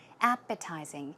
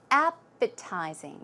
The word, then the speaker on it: appetizing: Now, the pronunciation is appetizing. The stress goes on the first syllable.